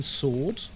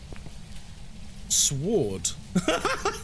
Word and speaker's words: sword: I knew a guy that would pronounce the word with the pronounce the W in sword. Sword.